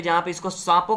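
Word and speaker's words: Tsangpo: हैं यहां पर इसको सांपो के नाम से जाना याद जाना ज्यादा साफ हो ठीक है इसमें थी साइलेंट है में सांपो के नाम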